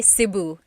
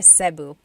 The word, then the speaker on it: Cebu: So, technically in the Tagalog alphabet the letter E can be pronounced E or E like the letter I. So, I say Cu. Cu. And I know some people say su, but usually it's either Cu or Sebu.